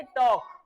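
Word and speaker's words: talk: बोलेंगे ऐसे ही बेटा इसकी स्पेलिंग तो पढ़ेंगे टी ए एल के लेकिन इसे बोलेंगे टॉक क्या बोलेंगे टॉक तो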